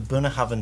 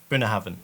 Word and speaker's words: Bunnahabhain: so this is from the buna hoven distillery and just so you know it's not pronounced and it's not burna hoven so there's some really